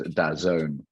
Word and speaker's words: DAZN: And I know, yeah, it's funny, DAZN, I wasn't sure whether it was DAZN or how to pronounce, but as you rightly say, it's DAZN.